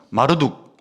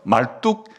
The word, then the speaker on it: 마르둑: 중에 이 바벨론의 국가신은 마르둑, 혹은 발음을 말뚝이라고 하면 좀 발음하기 쉬워서 말뚝 신과 비교할 수 있겠냐, 그런 뜻입니다.